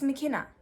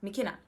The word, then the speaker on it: McKenna: how you say it it's mckenna literally that's how you say mekina but if you struggle